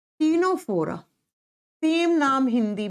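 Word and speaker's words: Ctenophora: पर आता है स्टूडेंट्स टीनो फोरा लिखा जाएगा सी से प्रोनाउंस किया जाता है टी से टीनो फोरा सेम नाम हिंदी में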